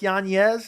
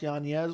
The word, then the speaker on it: Yanez: fight that's a great idea unfortunately i like yonez is not his name is pronounced yanez which i found out recently i would go